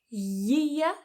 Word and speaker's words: year: Year, so notice my tongue is coming up there y, y, year year, and then ear, ear. My tongue doesn't come up for that y there.